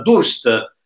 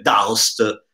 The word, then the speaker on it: Durst: è stato fabbricato dalla Durst, che non si dice Daust, perché è italiana, altoatesina italiana, e sta per variable contrast.